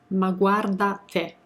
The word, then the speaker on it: ma guarda te: Ma guarda te. Okay, now I can breathe. That's how you pronounce it.